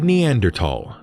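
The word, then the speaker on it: Neanderthal: in t h l is pronounced as a hard t for a long time anthropologists assumed that the neander tals resembled Apes walking with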